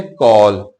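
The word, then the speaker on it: call: कॉल पढ़ते हैं viewers याद रखिएगा कि एल के से पहले जब ए आ जाता है तो ए जो है अपनी साउंड को खत्म करके ओ की साउंड ले आता है इस कॉल पढ़ना है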